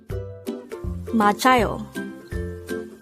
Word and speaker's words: 맞아요: here at the hangout word number 157 machayo machado this is pronounced as a three-suitable word the first syllable